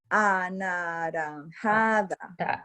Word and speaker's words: anaranjada: A, na, ran, ha, da. Do it. Anaranjada.